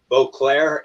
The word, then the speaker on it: Boisclair: So my government last name is Beauclair, and it's spelled Boisclair.